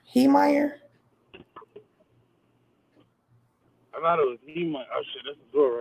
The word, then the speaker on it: Heemeyer: Yeah, I think they pronounce it Haymeyer, but it's spelled Heemeyer.